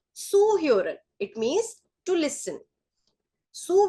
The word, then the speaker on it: zuhören: Z is pronounced as sir, so this is zuhören.